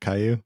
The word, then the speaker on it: Caillou: Is that what how it's pronounced? Yes. Is it Caillou?